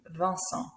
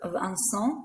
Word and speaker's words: Vincent: So Vincent, we don't pronounce the T.